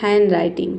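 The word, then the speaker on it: handwriting: हैंडराइटिंग नहीं होता है। ये होता है हैंडराइटिंग। ठीक है? ड को हटा देना है।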